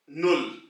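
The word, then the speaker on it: null: तो पहला नंबर है 0 यानी कि सिफर, इसको जर्मन में हम कहेंगे नुल, नुल।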